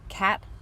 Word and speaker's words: cation: I know based upon our English language, when words end in the letters T-I-O-N, we're supposed to pronounce it shun. However, because we're talking about an ion, the root here is just that, ion. And what comes before it is the word cat. So we pronounce it cation.